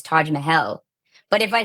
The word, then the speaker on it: Taj Mahal: the Taj Mahal but as I was traveling in India and had actually visited and hearing the actual pronunciation is Taj Mahel but if I say